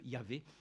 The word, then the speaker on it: Yahvé: Mais dans la prononciation, il a été dit que pour ce qui est de la prononciation dans, on va dire dans l'hébreu, ça ne peut former que Yahvé, cette expression qui donc